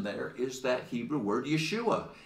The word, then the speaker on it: Yeshua: word but it's it you can even hear the sound it's Yeshua that's how you say it so Look What the